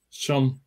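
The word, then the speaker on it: شمس: Le soleil qui est devant, dans les langues sémitiques, on prononce Shams.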